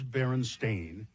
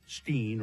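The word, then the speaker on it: Berenstain: For instance, the Baronstein Bears book being spelled and pronounced Stein or not Stain as the publishers claim but but it is Baron Stain as but many people remember it as Steen or Stein.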